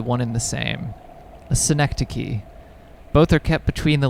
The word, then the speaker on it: synecdoche: if you just sit here it'll come back synecdoche yeah that's how you pronounce it i learned that one in school